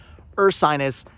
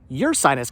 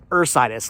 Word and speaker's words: Ursinus: It's spelled with a U, but it's pronounced Ursinus, like a bear, like the constellation, like Sinus, not Ursinus.